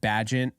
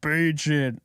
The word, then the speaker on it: Bagent: And I said that his fan club comes at me in my comments for saying his name wrong because I said Bagent. As soon as I got off the stream, Alexis, literally 2 a.m., and I'm getting hate mail from people saying, it's Bagent.